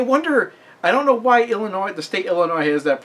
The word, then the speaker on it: Illinois: has that problem because nobody says Aransas everybody seems to know that S at the end of Arkansas isn't supposed to be pronounced but I guess a lot of people didn't get the memo for Illinois anyway second question how